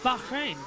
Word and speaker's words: Bahrain: That's how you pronounce it, Bahrain. The H is Bahrain.